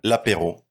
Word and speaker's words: L'Apéro: Or what's the pronunciation? L'Apéro. You did it really well. You did it really well. The R. I have a hard time with the R.